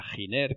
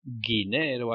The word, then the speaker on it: Giner: acertado que comprase a la empresa giner que es un fabricante de electrónica dores yo conecta además me divierto mucho porque en eeuu lo pronuncian dinero algo parecido quizá porque muchos no saben que su fundador se llamaba don josé giner y era valenciano pues esta empresa net